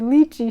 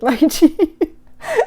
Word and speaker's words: lychee: I said lychee. She corrected me with lychee. So, according to Webster's dictionary, it's lychee, but I'm not going to fight you on any of it. You pronounce it either way, and I will know